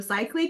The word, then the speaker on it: Seikaly: So, uh my name is Cycley. Kenneth pronounced my last name perfectly like he does every time we chat.